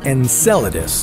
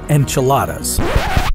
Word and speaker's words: Enceladus: enceladus first of all it's pronounced enceladus not enchiladas sorry muchacho enceladus is